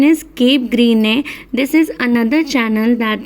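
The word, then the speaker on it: Cap Gris-Nez: Okay, the pronunciation is Cape Greene.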